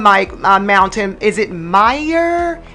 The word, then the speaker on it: Mire: Is it Meyer? M-I-R-E. How should I be pronouncing that? Oh, Mire. See, I can't roll my R. See, I just can't do it. I try. Say it like a D.